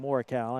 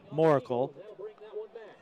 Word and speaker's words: Morkel: We've been calling him Morikow. I think they want to call him Moracle.